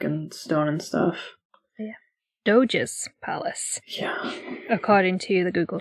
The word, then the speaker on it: Doge: in venice or something that is not how you pronounce it it's like d-o-g-e or something hold on oh yeah like the doge palace uh no unless you're on google translate doja doges palace yeah it's gorgeous it's